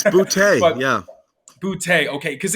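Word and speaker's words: Boutte: It's Butte, but yeah.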